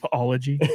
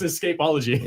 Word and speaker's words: escapology: But yeah, so his thing was escapology, right? Escapes. Escapology? That's the word That's for the it? fancy word for it. Whoa. That is pretty fancy. You mean Which I think- escapeology? Yes, escapology.